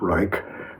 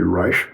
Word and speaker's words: Reich: This is what the psychoanalyst Wilhelm Reich Rei C some people pronounce it Reich but it's correctly Rich Wilhelm Reich the sex positive psychologist said children should be self-determining sexually.